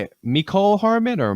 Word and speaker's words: Mecole: Mecole Hardman or McCole Hardman? I'm calling him Wide receiver Mecole, for the Chiefs. like Michelle.